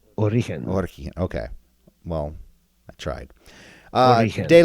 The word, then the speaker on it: Origen: So just think origin, yeah, but soft G. Origen.